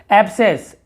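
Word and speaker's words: abscess: यहाँ पे देखेंगे आप, हम इसे क्या कहते हैं, यहाँ पे देखिए सी को नहीं पढ़ना है, एब्सेस, एब्सेस, यहाँ पे सी का उच्चारण नहीं हो रहा, ठीक है।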